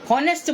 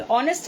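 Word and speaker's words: honest: हमारे हाँ हलवाई H बोलेंगे, हॉनेस्ट बोलेंगे, और वहां पे H को साइलेंट, ऑनेस्ट हो गया।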